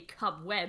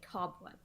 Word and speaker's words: cobweb: see the issue like you don't say cub web you say cobweb it's on the first syllable um and it's a